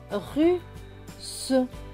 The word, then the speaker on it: russe: Les deux S vont se prononcer S et E, se. Donc, ce mot va se lire russe, russe. Donc, ici, c'est ruse et ici, c'est russe. C'est pas la même prononciation.